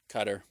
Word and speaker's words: Qatar: not culturally authentic okay like Qatar cutter cutter yeah where qaris pronounce it Qatar yeah but somehow in America we've got the pronunciation police yelling at us to say cutter cutter yeah I'm sorry it's pronounced cutter and it's like maybe